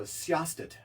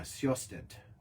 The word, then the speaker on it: Sjostedt: Oh, Sjostet. Wow. SJOSTE. What is it? DT. No, there's a J in there. SJOSTEDT. Yeah, Sjostet.